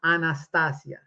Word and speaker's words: Anastasia: By the way, her name pronounced Anastasia is Russian. It's a beautiful language. Pronounce it correctly. What's this Anastasia? What? It sounds almost like she's going under anesthesia. But anyway, so please kindly pronounce it right.